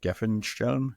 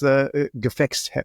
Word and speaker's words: Gefecht: The British Brodie system, the American Advanced Combat Helmet, the German, you're going to have to pronounce that, Gefenhelm? Gef. It's Gefecht.